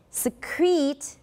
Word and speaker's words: secrete: me secrete the second one is secretive so secrete nega e is a full vowel secrete but